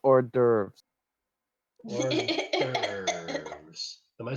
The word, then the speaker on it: hors d'oeuvres: No, it's pronounced hors d'oeuvres.